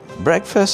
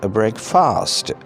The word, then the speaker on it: breakfast: Breakfast, as we all know, is the morning meal. This word should not be pronounced breakfast. It is a breakfast.